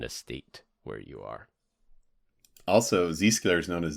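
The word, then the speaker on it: Zscaler: Where You Are also Z scaler is known as Zed scaler Zed scaler yep that's true all why do they pronounce the Z as a zed that makes no sense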